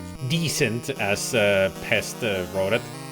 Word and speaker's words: Descent: three they're all sold I actually always pronounced it like decent it's not decent it's decent you're welcome so let's